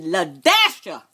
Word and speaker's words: La-Sha: y'all my name is ladasha let me spell it for y'all so y'all get a little familiar l a dash s-h-a write it down ladasha